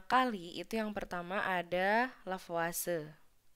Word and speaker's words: Lavoisier: itu yang pertama ada lavase yang ditulisnya lavoisier dibacanya lavase Nahla Fase ini menyusun